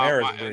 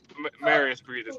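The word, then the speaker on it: Marius Briedis: No, Nah, Maris Breeders. no, it's Marius Breeders.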